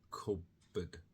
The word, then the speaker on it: cupboard: As we say cub, we close our mouths, and instead of pb, we just say b. So we ignore the first sound and we're ready to say the second, cupboard.